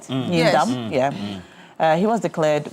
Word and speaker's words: Nindam: And the incumbent MP um Matthew Nindam, am I pronouncing that right? Nindam.